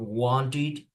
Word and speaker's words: wanted: And just the third pronunciation is when the verb ends in T or D, then you pronounce like ed, just like in the verb wanted, yeah, wanted, ended, wanted, ended.